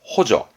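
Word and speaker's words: 補助: 발음은 호저.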